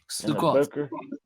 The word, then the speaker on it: Sukkot: Sukkot. Yeah. Everything is O instead of A. So it's Sukkot and what's the other one there?